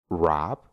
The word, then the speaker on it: wrap: después tiene una r solo Vamos a pronunciar la r y no vamos a pronunciar la W por ejemplo wr que significa escribir wrong que significa correcto Rest que significa muñeca wrap que significa envolver o